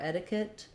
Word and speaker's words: etiquette: etiquette and um so in etiquette we have first syllable stress so letter e is going to say the e sound my T is going to be flapped it'll sound more like a D um so uh and